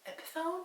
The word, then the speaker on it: Epiphone: navy and it's just all around beautiful it's epiphone is how you say it it's like a